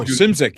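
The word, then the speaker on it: Szymczyk: And the producer was uh Bill I don't know how to say his last name. Smidgemck whatever. Uh he was oh Simzic. Yeah.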